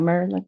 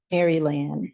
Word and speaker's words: Maryland: And she knows how to pronounce Maryland. Not Maryland, They don't do it right here, but don't worry about it. Maryland.